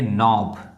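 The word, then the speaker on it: knob: ये नॉब लिखा हुआ है, ये के जो है पूरा का पूरा क्या है? साइलेंट है, इसको पढ़ेंगे नॉब। अब देखिए अगला शब्द देखिए, ये देखिए लिखा हुआ है नॉलेज।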